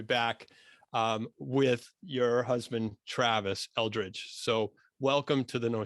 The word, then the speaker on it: Eldridge: You asked him how to pronounce it. Eldridge.